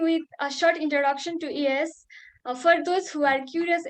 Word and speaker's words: IAAS: Before diving into the main session, let's begin with a short introduction to ES for those who are curious about who are we. Uh, IAAS, we generally spell it ES, is an International Association